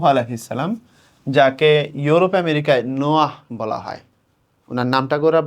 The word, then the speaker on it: Noah: হজরত নূহ আলাইহিস সালাম, যাকে ইউরোপ আমেরিকায় নোয়াহ বলা হয়। ওনার নামটা করে বানান করা হচ্ছে এরকম NOAH, এরকম, বা NOA দিয়ে লিখা হয়, নোয়া বলে।